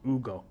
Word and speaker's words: Hugo: It's Ugo. Ugo. So the H is the H is silent.